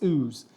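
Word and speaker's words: Ouse: which people also say say wrong it's not 's it's ooze and it's got Roots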